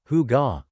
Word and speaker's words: hygge: It's called hygge, pronounced hygge, and it is one of the most powerful secrets to their happiness.